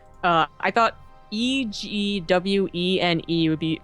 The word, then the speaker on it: Egwene: Like the Wheel of Time had it like I thought Egwene would be pronounced Egwene.